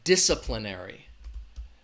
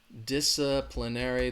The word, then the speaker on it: disciplinary: some rules or laws the stress is on that first syllable dis disciplinary disciplinary again that second syllable has that schwa DISA DISA disciplinary say it with me